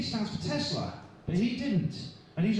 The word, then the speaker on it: Tesla: would need an abbreviation his name is simply Tesla it's a two- syllable word easy to pronounce so why didn't he